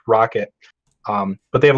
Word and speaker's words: Roccat: uh roke uh roccat i know if it's pronounced rock at like rocket or rocat it's roccat so i guess it's it's rocket um but they have